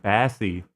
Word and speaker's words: bassy: Bassy? I couldn't record it, and I don't know if it was... Are you an AI? What the fuck? Why'd you pronounce it bassy? It's bassy.